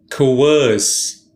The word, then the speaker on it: coerce: today's word is coerce two syllables the second syllable is stressed us coerce it means to force